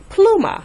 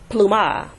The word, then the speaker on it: pluma: Your syllables are plu and ma. Pluma. Thus, the stress would fall on the plu because it ends with an A. So it's pluma, not pluma.